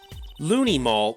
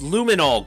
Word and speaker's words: luminol: testing on in court looney mall what's looney mall it's luminol get it right it was kind of